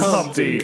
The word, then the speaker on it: Humpty: My name is Humpty, pronounced with an umpty.